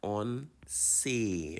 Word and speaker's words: once: On say. Remember, the E has an A sound, so on say.